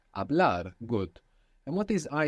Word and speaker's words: hablar: It begins with a silent H. Hablar. Hablar.